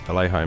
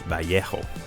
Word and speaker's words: Vallejo: I believe it's supposed to be pronounced Vallejo, but I have enough trouble even with English, so come on, give me a break.